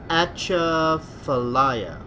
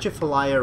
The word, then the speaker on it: Atchafalaya: I can't quite pronounce Atchafalaya not Jeff Alya River and it's got